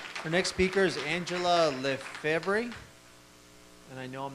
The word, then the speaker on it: Lefevre: much yes sir the next speaker is Angela the Fabri and I know I'm not pronouncing it correctly yes good afternoon my name is Angela ang ela Lefevre capital le capital F Evy re and I